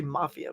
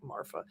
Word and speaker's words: Marfa: Marfa? Looks like they want to say Mafia, but they don't. Marfa.